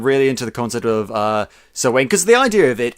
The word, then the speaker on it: Samhain: pun on the the Celtic proto Halloween Festival sir Wayne as its caught up here in Scotland I know it's called it's pronounced other ways and other parts of the